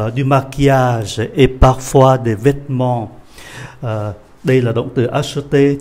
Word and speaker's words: vêtement: Chữ vêtement đọc chậm thì có 3 syllabe, đọc nhanh thì chỉ còn có 2 syllabe rồi thôi. Vêtement. Bỏ chữ ơ này đi ạ.